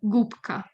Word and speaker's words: губка: The B that's normally voiced becomes unvoiced, and the B, the B, is pronounced as its unvoiced counterpart, p, p. So gubka, right?